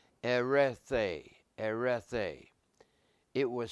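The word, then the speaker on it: ἐρρέθη: It's pronounced erethe, erethe.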